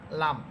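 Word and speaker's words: ل: এটা আপনারা একটু চেষ্টা করলেই পারবেন, এটা তো তেমন একটা কঠিন হরফ না, লাম। কিন্তু লাম হরফটাকে একটু নরম করে পড়বেন, লাম এটা কোনো শক্ত হরফ না।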